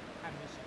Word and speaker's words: Harbisson: Harbison.